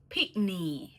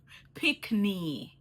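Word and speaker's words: pickney: It's like you're saying picnic, but you're taking off the C off of the end, and you say pikney. You know what I mean? Like that makes sense? Yeah, pikney.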